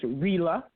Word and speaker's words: Rila: And then another one of our staff here, Rila, that is pronounced Rila, like Sheila.